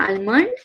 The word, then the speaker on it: almond: Did you eat your almond? No, the L is silent. It is almond. Almond.